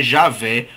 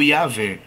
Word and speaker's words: Javé: aparece no antigo testamento Pode ser que a pronúncia fosse um pouco diferente na na na antiguidade né algumas pessoas pronunciam como yahu então essa essa seria uma maneira de pronunciar o nome de Deus yahu que seria adaptado ao português como yahvé ou Javé Deus tem um nome